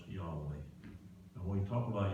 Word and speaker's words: Yahweh: generation to generation well in hebrew the words i am are pronounced yahweh and when we talk